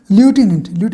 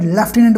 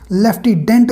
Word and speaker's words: lieutenant: ल्यूटिनेंट means जिसको हम local में लेफ्टिनेंट बोलते हैं, कई विलेजेस में इसको लेफ्टिडेंट भी बोल देते हैं।